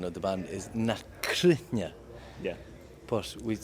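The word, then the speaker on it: Na Cruithne: So the proper pronunciation of the band is Nakrunya, Yeah.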